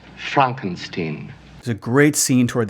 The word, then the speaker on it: Frankenstein: It's pronounced Frankenstein.